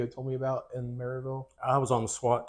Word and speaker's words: Maryville: East Tennessee, a little town called Maryville. Okay. Unless you're from there, it's called Merville.